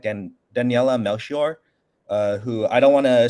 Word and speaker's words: Daniela Melchior: How do you pronounce her name again? Daniela Melchior.